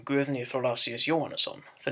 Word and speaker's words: Thorlacius: in the name Guðni Thorlacius Jóhannesson, the name of the current president of Iceland. It is, however, always pronounced as thorn.